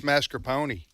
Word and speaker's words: mascarpone: said it's mascarpone, like a pony.